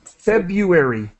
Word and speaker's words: February: help you with februari we do not pronounce the r so i'm gonna put that in red we've ever you re yeah fab fab you hbu februari februari yeah okay sangha